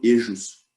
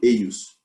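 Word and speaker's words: eius: Não vai ser dito ejos, vai ser dito eios, certo?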